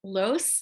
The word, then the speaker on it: Loos: I'm excited to have Los am I saying it right you did it right excellent Elizabeth talking